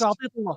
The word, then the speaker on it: Atiyat Allah: Atiyat Allah. I don't know how to pronounce Yeah, that. My bad, guys. Atiyatullah, yeah. Yeah. Yeah. No, Sais, correct, Atiyatullah. Sais, Sais is my Taknauti, captain, the keeper, Mohammedi, Yeah.